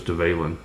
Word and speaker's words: Dvalin: um the Valen or someone I heard it pronounced duvallen but I believe it's develin so guys thanks for